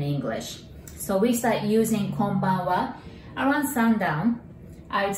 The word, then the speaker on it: Konbanwa: So there are five sounds and five characters. Remember, Japanese is phonetic. So that's ko, n, ba, n, wa. And we're gonna divide it into three now. Kon, ban, wa.